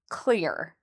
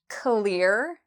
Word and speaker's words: clear: Now the way to pronounce this is you can imagine the first uh sound is a k sound c. And then we have the next part lear. So it rhymes with ear.